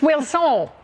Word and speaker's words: Wilson: all enthusiastic just then you look like I hadn't pronounced your name right it's will soul you ready to jump